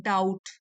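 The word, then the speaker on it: doubt: B silent है डाउट तो यह पूरी दुनिया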